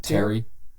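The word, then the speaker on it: Teair: How do I pronounce his first name? Terry.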